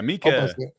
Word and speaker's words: Mika: I know I say Mecca Mees, if I'm saying it right. Yeah, Mika. Mika. Okay, so make sure we get it right.